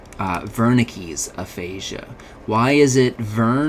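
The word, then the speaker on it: Wernicke's: That is why the V is pronounced like a double or the the W is pronounced like a V.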